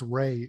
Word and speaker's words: Rain: Isn't that how it's spelled? No, there's no N in it's Ray, R-A-I-N.